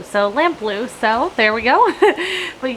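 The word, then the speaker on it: Lamplugh: day this is the lamp blue glacier that is how they that you pronounce it you said it just rhymes with the color blue so lamp blue so there we go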